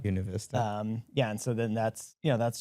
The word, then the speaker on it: Buena Vista: And I guess like as you look at the sign on the interstate, you would say, oh, that's Buena Vista, or it's pronounced Buena Vista. Buena Vista.